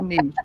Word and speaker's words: niche: I need to say niche, but that doesn't rhyme with riches.